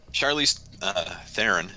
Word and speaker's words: Charlize Theron: dang man wait it goes good guess dude Charlize Theron is how it's actually pronounced I knows because she did an episode